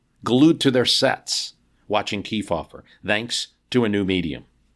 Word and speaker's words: Kefauver: Truman deliberately mispronounced his name. Cow fever, he called him. America disagreed, though. They were watching, glued to their sets, watching Kefauver, thanks to a new medium.